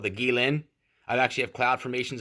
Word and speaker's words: Qilin: And if you look at the Chinese, they have this symbol called the Guilin. I actually have cloud formations of this. It's like the Qilin. It's spelled Quilin, something like that.